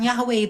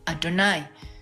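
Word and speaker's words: יהוה: heevave itu aksara Ibrani Yod heevave bukan yahwe itu orang Yahudi bacanya itu dengan adonai Adon Adon itu Tuhan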